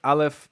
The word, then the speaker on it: Aleph: But these are Aleph, He, Chet, Ein, and Resh, or Resh. Aleph used to be a glottal stop, which is pronounced at the glottis, which is the back of the throat.